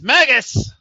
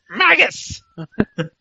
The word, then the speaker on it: Magnus: week Magus Magus yes Magus as J Dixie used to call him maggus because apparently she can't pronounce NS and somebody else called